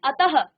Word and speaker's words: अतः: जैसे आप क्या कहते हैं, अतः, तो देखिए उच्चारण कैसा आया, अतः, ठीक है। तो यहाँ पर यदि आपके किसी भी शब्द के पीछे से इस प्रकार से विसर्ग लगा होता है तो आप इसका उच्चारण ह की तरह करते हैं।